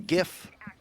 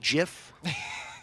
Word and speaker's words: GIF: we do not care about platforming it's a gif it's a meme it's not pronounced jif that's a peanut butter don't be lunatics anyway